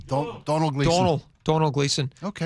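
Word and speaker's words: Domhnall: Dommel, it's spelled Dommel, but I think it's pronounced Donald.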